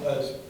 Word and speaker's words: Oz: The talk was led by a Palestinian academic, Sari Nusseibeh, and a now deceased Israeli Jewish author named Amos Uz, spelled O-Z like Oz, pronounced Uz.